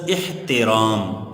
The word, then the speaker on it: احترام: نیچے زیر۔ دوسرا لفظ احترام، تے کے نیچے بھی زیر ہوگا اور حمزہ کے